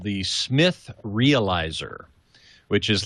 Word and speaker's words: Smyth: but it's still pronounced Smith.